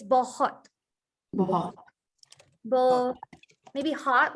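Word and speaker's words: बहुत: like the thing is it's not hot it's bohot well maybe hot like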